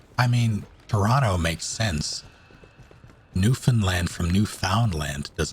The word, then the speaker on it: Newfoundland: I'm sorry, it's pronounced Newfoundland? But it's spelled Newfoundland? No, it's Newfoundland, and they're Newfies.